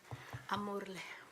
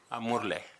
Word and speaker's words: Amurle: You will teach us how to pronounce it. Amurle. Amurle.